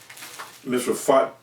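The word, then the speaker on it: Misrephoth-maim: We was pronouncing it wrong the whole time. Misraphothmam.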